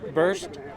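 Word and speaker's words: Berst: My name is Burst, pronounced like a balloon popping, but it's spelled with an E.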